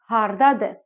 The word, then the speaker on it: haradadır: Кстати, хотела здесь отметить, в слове «haradadır» буква «а» выпадает при произношении. Мы говорим «hardadır», «hardadır».